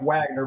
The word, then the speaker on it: Wagner: the head of this paramilitary group called Wagner it's spelled Mike Wagner but it's called Wagner and what he did